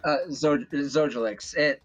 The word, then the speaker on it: Zojalyx: Well, Zojalyx, how do you pronounce that name? Zojalyx.